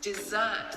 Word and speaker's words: dessert: I think what you want to say is dessert is my favorite thing. Now that I can understand. Dessert is a 2-syllable word with the stress on the second syllable. You can do it like this, dessert.